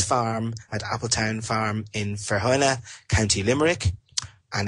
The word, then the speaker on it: Feohanagh: Now, I can't pronounce that, but it's Feohanagh. Maybe people can say it better than I can. I'll say Feohanagh, County Limerick.